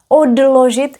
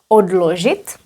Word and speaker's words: odložit: Also very interesting point about the pronunciation. Odložit, here is d, odložit.